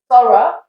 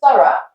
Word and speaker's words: thorough: To survive the cold weather, you need to make thorough preparations. So we look at that word thorough, the punch, the stressed part is th, and the rest is just weak, it's out of Play-Doh, so we just kind of mold it.